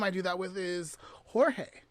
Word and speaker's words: Jorge: do that with is jorge right like early on i learned that george is jorge in spanish right so if a